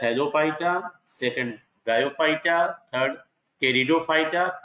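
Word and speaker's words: Pteridophyta: थैलोफाइटा, second ब्रायोफाइटा, third टेरिडोफाइटा, P silent होगा इसमें, fourth gymnosperm and fifth angiosperm.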